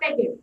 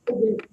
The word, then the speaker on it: Tegas: Kemarin sudah dikoreksi dengan Bu Siti, ternyata ini pronunciation-nya itu adalah Tegas, bukan Tegas. Tegas.